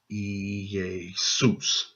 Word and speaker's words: Iesous: it looked, how it was spelled, and you pronounce this Iesous.